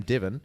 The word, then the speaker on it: Devon: of my Starbucks orders I say my name divin and they give me David I'm hungry why does divin sound like David because to me that sounds so different it sounds so different I